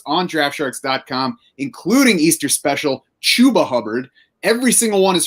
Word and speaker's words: Chuba: was finding out that his name was not pronounced chubba because when i first saw the name and